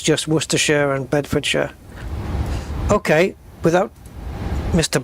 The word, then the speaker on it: Worcestershire: But we have got Worcestershire, which the sh you guys pronounce as Shire, don't you? Shire, Worcestershire and Bedfordshire. Where for us it's just Worcestershire and Bedfordshire.